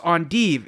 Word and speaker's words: endive: the rocket-shaped vegetable we call endive is actually pronounced on dev it's a belgian and even guess what it